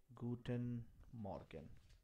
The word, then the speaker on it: Guten Morgen: We referred with Guten Morgen. And pronunciation is Guten Morgen.